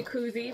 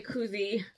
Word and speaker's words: koozie: fine cozy I have been corrected too much by friends to not say cozy because if I don't say koozie I will get a phone call text message notification letting me know that you said it wrong again so it is koozy for me today I used to